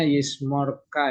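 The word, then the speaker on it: ישמרך: adone adone yismare ahah ini bacanya yismorka Ya karena ini e kamet sat ya Ee ada di vokal tertutup tidak mendapat tekanan begitu teorinya ya ymorka mikol ra mikol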